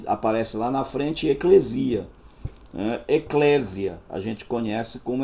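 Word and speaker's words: ἐκκλησία: no grego Oi e a gente pronuncia assim eclesial Eclésia né algumas pronunciou Eclésia Alguns ainda pronunciou ekklisia né o Eclésia então de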